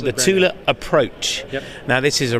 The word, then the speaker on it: Thule: Tula now regularly mispronounced is that the correct pronunciation uh that is correct yes it is not Thule it is it is Tula yeah tula and a Swedish company yes animals